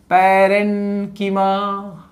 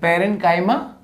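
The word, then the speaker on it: parenchyma: पहला है पैरेन्कीमा, किसकी मां? पैरेन्कीमा। दूसरा कॉलेन्कीमा, भाई पैरेन्काइमा कॉलेन्काइमा, नहीं तो एग्जाम में भी गलत लिखोगे। अरे लिखना तो सही है, प्रोनाउंस सही किया करो, ठीक है।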